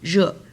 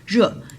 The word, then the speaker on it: 热: It's kind of like French word je, but you put more stress on so it will be 热. E at the end. Where's sorry. Sorry. It's supposed to be this one. 热. So if E at the end and it only combined with the initial, which means there's no other vowel in this syllable, and it always pronounced like a, okay?